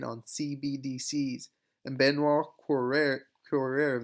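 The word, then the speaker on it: Cœuré: cbdc's and benoit correa corer that's how you pronounce it just said that they're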